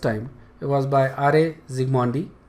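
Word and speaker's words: Zsigmondy: Zigmondi। Okay Z pretty much silent है, सिग्मोंडी बोल सकते हो तुम इसको, R.A.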